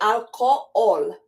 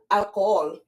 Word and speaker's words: alcohol: alcohol in English and in Spanish it's spelled the same way but the H is not pronounced so we say alcohol alcohol and then we have